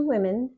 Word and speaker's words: women: It's not spelled that way. We pronounce it that way so we can tell the difference between one or more than one.